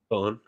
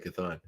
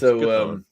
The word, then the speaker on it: Chthon: Chthon. Oh, okay, good. I was right on that one. Because it sounds like Cthulhu. When I was a kid, I always thought Chthon. No, it's Chthon.